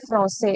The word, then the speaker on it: français: So here sedil is used, so you will pronounce it with the sound S. So français.